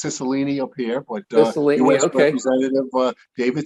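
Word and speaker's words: Cicilline: one the incumbent is a gentleman named david sicilian am i pronouncing that correctly yeah we say it's sicilini up here but uh david sissolini okay i don't think he would be a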